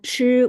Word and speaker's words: 吃: 知吃 Yeah, 吃 when pronouncing 吃, there much 吃 stronger airflow here coming out.